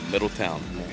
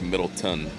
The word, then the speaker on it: Middletown: yeah and I saw you're from is it Middletown Ohio is that how you say it yeah Middle Town yeah a lot of people mispronounce it for